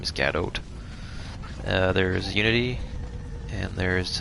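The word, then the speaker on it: Godot: like a couple engines i think it's like gada um i'm not sure if i pronounced that right gadot gat oat name is gadot uh there's unity and there's um through unreal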